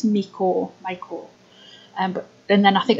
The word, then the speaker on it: Miko: And one of the other channels that I've heard talked about quite a bit, I think it's pronounced Miko or Miko, and it's M-I-K-O, and they are on YouTube, and all of those patterns that are on there are free.